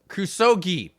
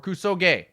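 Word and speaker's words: クソゲー: it is, make sure I say it right, Kusogi. Correct me if I said it wrong, space people. Kusogi or Kusoge?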